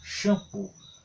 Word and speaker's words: shampoo: O shampoo, lá no inglês, se escreve assim, SH e 2O, que faz o som do U, shampoo.